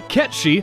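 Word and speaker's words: Cait Sith: back on the airship ketch she sorry we pronounced it wrong last week reveals shinra's plan to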